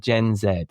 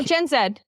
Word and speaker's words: Gen Z: the next one is the rise of gen Zed and or gen z uh so oh no gen Zed J we say it right they say it wrong good Kim M mofs